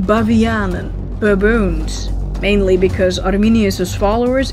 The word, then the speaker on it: Bavianen: Remonstrants were initially called mouth beggars, referring to their blasphemy, but eventually got the name Bavianen, baboons. Mainly because Arminius' followers in Dutch were called Arminianen. Arminianen, Bavianen, it rhymes.